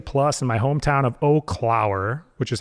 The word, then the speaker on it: Eau Claire: cuz people always pronounce it wrong. Like often people say Eau Claire or Eclair. Yeah, yeah, yeah. It's Eau Claire.